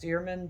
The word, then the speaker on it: Deerman: so i'm assuming that the name was still pronounced dearman back then as well excuse me